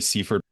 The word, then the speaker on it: Seifert: We'll be talking about micromanagement with Seifert. Did I pronounce it correctly? Your name? Yeah, Danielle, it's actually Seifert.